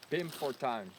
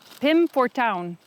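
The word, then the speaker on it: Pim Fortuyn: Pim Fortuin. Pim Fortuin. Town. Down. I'll never get touched. You'll never get the I. Ow, ow, No, ow.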